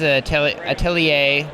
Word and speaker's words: Atelier: So another question is, when is Atelier?